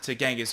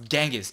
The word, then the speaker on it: Genghis: It's Genghis, dude. Like, Yeah. it's a G. We're in Yeah, America. yeah. So I Googled it, and the first 5 things on how to pronounce Genghis Khan is Genghis Khan. Yeah. And then I looked a little further, and it said, actually, it's a J.